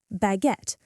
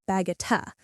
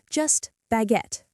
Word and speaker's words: baguette: The emphasis is on the second syllable. Baguette. The U E at the end is silent. We don't say baguette-a. Just baguette.